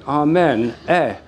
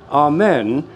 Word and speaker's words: Amen: Now, if we take āmēn, is the syllable, a syllable.